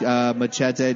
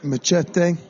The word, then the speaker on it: Machete: Did you just call machete Machete? Yeah. Is that how you say it? I think that's how they say it here. Get the fuck out. I've been calling it machete this whole time. It's Machete.